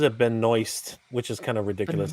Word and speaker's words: Benoist: Yeah, but then she's also she pronounces it Benoist, which is kind of ridiculous. It's Benoit, but she pronounces it Benoist.